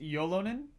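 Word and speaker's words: Ylönen: First one I'm seeing here is Yolonen, is pronounced Yolonen.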